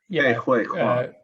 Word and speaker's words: Ke Huy Quan: Oh God, I'm very bad at pronunciation. Ki Fine, Hu see you now. KEHUYQUA. It's Ke Huy Quan.